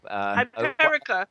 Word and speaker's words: Hyperica: Hyperica, like America.